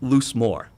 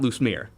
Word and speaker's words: Loosemore: Loosemore, not Loosemere.